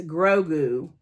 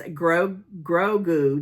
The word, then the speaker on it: Grogu: It's Grogu.